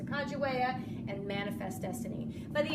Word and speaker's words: Sacagawea: and Clark expedition, Sacagawea, we used to call her Sacagawea, or a lot of people still call her that, but apparently it's pronounced Sacagawea, and Manifest Destiny.